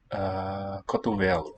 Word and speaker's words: cotovelo: O meu cotovelo. Cotovelo. I think the medial O, that second O in the word is also raised.